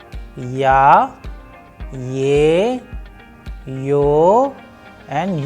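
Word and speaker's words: я: For example, in case of Ya, with the help of English, we have used Y and A, and when we are going to pronounce them together, the sound would resemble to Ya.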